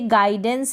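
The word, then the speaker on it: guidance: फिर यहाँ पर जैसे गाइडेंस है, तो गाइडेंस में भी हम देखेंगे कि यू का प्रोनाउंसिएशन नहीं हो रहा है, यू यहाँ पर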